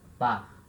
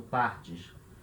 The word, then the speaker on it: part: Tu partes. Repara, é igual à primeira pessoa. Je pars, tu pars. Terceira pessoa do singular, il, elle, on. Part. Se fala igual, par, mas se escreve diferente. Escreve com T.